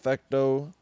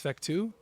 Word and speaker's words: Fectau: first introduced to uh it's just it's a French last name so okay it's is it it's fu fecto fu cuz like when